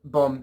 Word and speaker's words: bombe: and I remember what bombe translates to in French. Also, that's spelled B-O-M-B-E, so, because it's French, and they, don't like to pronounce the letters.